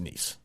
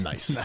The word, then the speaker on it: niece: You pronounce it niece. Yes. Not nice.